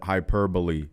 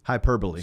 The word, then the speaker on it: hyperbole: as much as possible let them know hyperboy if I said that you added an extra uh syllable that's how we say things in Central Florida hyperbole hyperbole spell it h y p e r b o l e no ding that's correct